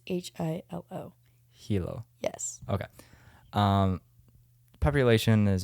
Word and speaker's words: Hilo: Just think of Lilo from like Lilo and Stitch, and instead of L, put an H, so it's Hilo.